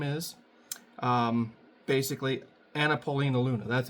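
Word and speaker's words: Anna Paulina Luna: Paulina or whatever her name is um basically anapolina Luna that's how you say her name sorry uh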